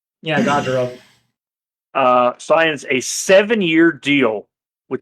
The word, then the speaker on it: Gaudreau: I gotta make sure I pronounce his last name correctly. Johnny Gaudreau. Yeah, Gaudreau.